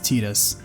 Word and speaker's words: Tidus: In addition, the audio drama sequel Will establishes that he did return and again clarifies officially his name is pronounced Tidus.